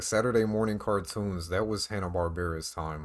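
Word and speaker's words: Hanna-Barbera: morning cartoons that was Hannah barar time like that's where they shined Hannah Barbara Barbara however you want to say it I've heard it pronounced both ways I'm pretty sure it's Hannah Barbara but yeah so one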